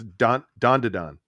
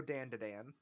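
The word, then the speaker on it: Dandadan: know the anime, but it's Don to Don. Yeah. That's how you say it. I know it is. Funny enough, I just vehemently like to anglicize it and go Dan to Dan.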